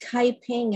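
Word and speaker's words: 开平: Ah Quin was born December 5th, 1848 in southern China, in a city that is pronounced Kaiping in Mandarin and Huiping in Cantonese.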